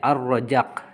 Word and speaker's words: Ar-Razzaq: ya pengertian tentang arrojak di tulisannya ini al-razzaq tapi dibacanya arrojak gitu Ya arrojak arrojak diambil